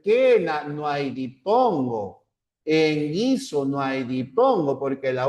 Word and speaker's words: guiso: No hay diptongo en las sílabas que, qui, guiongos ahí porque la u no se pronuncia. Por ejemplo, en Kena no hay dipongo, en Guiso no hay dipongo porque